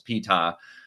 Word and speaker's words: Ptah: And by the way, I know how to pronounce Ptah because we have this wonderful pronunciation guide at the start, and we know that the P is actually pronounced at the beginning.